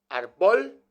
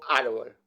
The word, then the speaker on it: árbol: Vamos a ver cómo decimos árbol. ¿Arbol o árbol? Yo me inclino por la segunda.